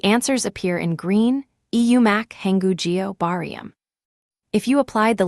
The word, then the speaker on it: 한국어: The second word is hangukyo. The second block ends in a K bacham, and the third block starts with the silent circle, so the K slides over, giving hangugyo, meaning the Korean language.